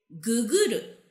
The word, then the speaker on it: ググる: How do you say it? We say guguru.